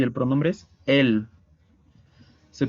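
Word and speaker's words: elles: Y el pronombre es él. Se pronuncia exactamente igual que él en singular. La S también es muda.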